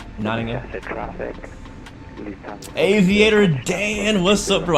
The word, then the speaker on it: Nottingham: Oh right, I said it wrong. It's Nottingham. All like half the letters are silent, right? Nottingham.